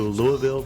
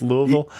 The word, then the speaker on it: Louisville: I I tell people if you want to pronounce it right or the way the natives pronounce it it's Lou and the with an uh in the middle very slight two and a quarter syllables you mock me a